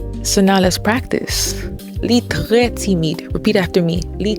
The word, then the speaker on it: très: Très. Make sure you're pulling that tongue back with the R, and it's très. Don't roll your R's, because this is not Spanish. This is Haitian Creole.